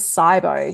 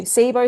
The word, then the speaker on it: SIBO: And you may also hear it be pronounced as Cybo. SIBO, Cybo, same thing.